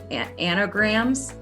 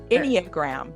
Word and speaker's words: Enneagram: I will definitely put in my episode notes and on social media, your website, and also I never can pronounce that word right, anagrams. Enneagram.